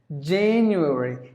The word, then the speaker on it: January: January Jane you read there are four syllables in this world January in the stresses at the first syllable then you read January